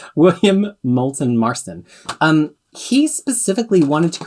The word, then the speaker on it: William Moulton Marston: correctly for a change william moulton marston i say like mars mulston marston william moulton marston um he specifically wanted